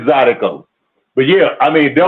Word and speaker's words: zydeco: I was laughing the way when you said the word, when you were saying Zydeco, it's Zydeco.